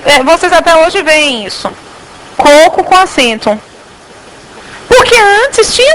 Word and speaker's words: coco: Pelo seguinte, em coco, qual é a sílaba tônica? O primeiro. Em cocô, qual é a sílaba tônica? Eu não troquei a posição do acento. Porque cocô tem acento no último O.